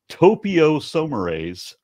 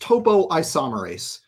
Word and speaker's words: topoisomerase: It's actually probably topoisomerase. It's pronounced topoisomerase.